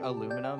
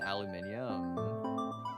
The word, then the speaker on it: aluminium: I guess like aluminum and aluminium. That one is actually just NA versus UK.